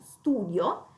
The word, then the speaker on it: studio: Questo è un nome che termina in io e l'accento non cade praticamente non sull'ultima i, ma cade sulla u, studio, quindi dato che cade